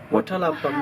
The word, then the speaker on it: Watalappam: Watalappam. Yep. Watalappam, that's the correct way? That's the name. Yep. One of our favorites. Yeah. Yeah, one's favorite. Yeah. So I've made you some Watalappam.